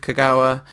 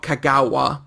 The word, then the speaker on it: Kagawa: So it is not kagawa. Um and there's no emphasis in Japanese apparently. Or there's no emphasis in kagawa anyway. So you just hit all the syllables equally.